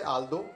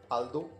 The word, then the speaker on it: although: कई बार ऐसा भी होता है कि GH स्पेलिंग में तो मौजूद है लेकिन उसका उच्चारण नहीं है, जैसे आल्दो, ALTHOUGH आल्दो, इसमें GH का उच्चारण ही नहीं है।